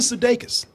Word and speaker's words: Sudeikis: Jason Sudeikis.